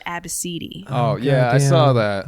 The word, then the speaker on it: Abcde: Her daughter's name was spelled ABCDE. Oh, goddamn. And she pronounced it Abacidi.